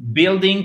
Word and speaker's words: building: Building, tu prononces pas le U en fait.